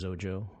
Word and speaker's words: Xojo: I like you know zero rhymes with zojo oh that's nice four